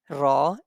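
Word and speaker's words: ر: Ra and Lam, both of them are being pronounced with the tip of the tongue and front palate.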